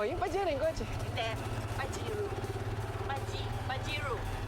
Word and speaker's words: Pajero: Hindi pajiru. Paji pajiru. Kailangan ipronounce mo ng ganon. Sige nga ulitin mo ako. Pajiru. Pajiru. Pajiru. Kasi pag sinabi mong pajero hindi ka maintindihan.